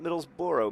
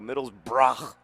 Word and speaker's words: Middlesbrough: cup taking on Middlesbrough not Middlesbrough Middlesbrough that's how they say it and that's also how they spell it the capital one cup